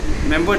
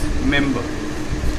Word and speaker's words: remember: So it will be like, remember that day what we did, remember this day what we did. So it's mainly pronounced as member and not remember.